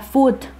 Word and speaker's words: food: mí tengo la palabra food for significa comida así como sabes que se pronuncia como el jamón como la marca de jamón que va a tomarme